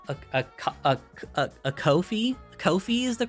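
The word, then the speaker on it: Ko-fi: the comment section for not saying Kofi right and here it is Kofi it's called Kofi you can't argue with me cuz that's how the company says it so uh I have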